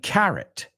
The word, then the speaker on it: carat: So there's another homophone for you. Carrot and carrot, okay? And I've seen carrot spelt with a C or with a K. K-A-R-A-T or C-A-R-A-T.